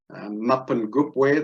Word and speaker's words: Mapungubwe: Mapangupwe, that's the pronunciation, and it's Chivenda, or derived from the Chivenda, meaning of the place or the hill of the jackal.